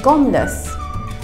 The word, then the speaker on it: gormless: read to you R actually used the word gumas okay how do you spell that g o r m l e s